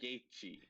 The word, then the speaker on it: Gaethje: Pronounce it one more time for me. Justin Gaethje.